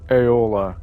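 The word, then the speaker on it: Aela: Aola. Okay, that's how it's pronounced.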